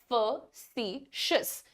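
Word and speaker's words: facetious: हुआ है यहां पर बच्चा कैसे प्रोनाउंस करेगा इसे फेस बोलेगा और फिर शिस लगा देगा करेक्ट फेशसन सिएन इज स्लाइटली डिफरेंट फ सशस फ सशस द प्रोनंसिएशन इज फ सशस फ सशस ठीक है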